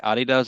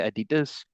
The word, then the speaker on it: Adidas: But I noticed that you have picked up some of the American pronunciations. Like, for example, you don't say Adidas anymore, you say Adidas.